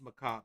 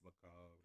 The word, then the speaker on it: Macabre: I mean, I'm over pronouncing it, but Dance Macabre. Macabre. Macabre. I think. Dance Macabre. Yeah. Macabre. There's a little flick of the R, I think, but it's very tiny.